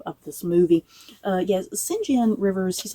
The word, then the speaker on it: St John: a funny story about singen rivers I remember the very first time I read this book let me tell you I pronounced singen Rivers as St John Rivers so when I I